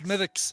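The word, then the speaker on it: Smithwick's: do you say it smithics it's mythics you don't pronounce that w and uh of course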